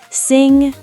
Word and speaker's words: sing: The ng sound at the end of words like sing. Exactly. Sing, ring, thing, song.